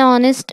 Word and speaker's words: honest: So here an apple, which a is, gives a vowel sound, and r because h is silent and o is pronouncing here, and an honest man is there.